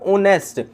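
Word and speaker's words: honest: अब ऑनेस्ट यहां पर एच साइलेंट होता है। जी। ओ की आवाज आती है ओ की।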